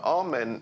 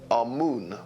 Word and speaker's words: Amun: deities was amen now now amen is the pronunciation that the Hebrews give it and some Scholars agree to use that pronunciation Amon is the pronunciation given to it by one of the old European scholars plutar in the language